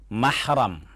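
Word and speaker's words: مَحْرَم: Pertama kata mahram. Huruf mim, ha, ra dan mim lagi. Dibaca mahram. Ini yang menjadi tema kita pagi ini. Ada yang persis sama hurufnya, tapi cara membacanya beda. Itulah bahasa Arab. Muhram.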